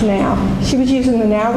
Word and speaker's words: Nao: the now robots and it's Nao is pronounced now she was using the